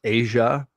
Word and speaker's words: Aja: Famously, this is known as the Matt Fraction and David, and I pronounce it as Asia, volume of Hawkeye, although